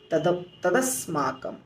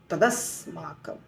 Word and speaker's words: तदस्माकम: दूसरा जो मुश्किल है वो है तदस्माकम, तदस्माकम, तदस्माकम। ठीक है, तो इसलिए इस शब्द का, इस श्लोक का उच्चारण हो जाएगा अपर्याप्तम तदस्माकम, स्मॉल पॉज, बलम